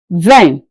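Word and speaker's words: vingt: 20 is pronounced in French as in v. Ven.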